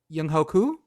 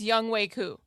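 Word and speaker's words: Younghoe Koo: Yung Hoku. No. How do you not know how to say his name? Young way. Say it Bridget. Say it. Bridget. It's Young Way Coup.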